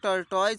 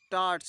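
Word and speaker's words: tortoise: टट्स इसे जो है कई लोग टर्टो पढ़ते हैं जबकि इसका प्रोनंसिएशन सही क्या है तो टट्स है ठीक है टट हमने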